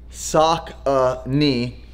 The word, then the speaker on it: Saucony: on backorder these are i'm going to pronounce this correctly sock uh knee the sauconees also known as sakonis also known as solstness uh this is the